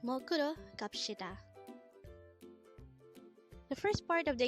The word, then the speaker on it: 갑시다: again it's kapshida the word is the formal way of saying